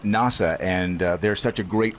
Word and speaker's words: Nasa: named by her mother for the American Space Agency NASA. She pronounces it NASA.